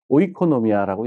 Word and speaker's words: oikonomia: 뭐 칠판이 없으니까 스펠링을 말씀드리면은 oikonomia 라고 이렇게 씁니다. 물론 뭐 발음 기호도 뭐 붙기도 하고 그렇습니다마는 오이코노미아라고 얘기를 합니다.